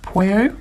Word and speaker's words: Pueo: I think it's pronounced Pueo, perhaps.